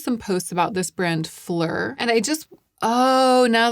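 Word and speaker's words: Phlur: I came across some posts about this brand, Flur, and I just Oh, now that I've said it out loud, I get it. Flur, like Flower, like Flower in French. It's spelled P H L U R.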